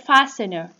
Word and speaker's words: fastener: The silent sound T in the word fastener.